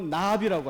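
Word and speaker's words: נביא: 예언자들의 편지, 예언서들이 예언서 한 묶음이 16명의 선지자들이 나오는데 이 예언자라고 하는 것이 히브리어로 나비라고 합니다. 나비야. 그 발음이 나비입니다.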